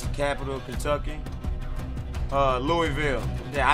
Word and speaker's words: Louisville: Kentucky uh Louisville yeah I'd say Louisville and that's only because I heard it pronounced like that so if I seen it I would say Louisville but fanatically speaking that is Louisville Louisville probably is you know people being lazy and not wanting to pronounce the Louis you know folk get